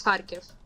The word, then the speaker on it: Kharkiv: these like only happening like in the east and is it Kherson or how do you pronounce this? You mean like my hometown is Kharkiv? Kharkiv.